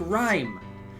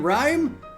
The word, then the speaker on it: rhyme: and exactly it's like rhyme do you pronounce the h in rhyme no in English in English there are letters or there are words with a silent h and he dugs yourself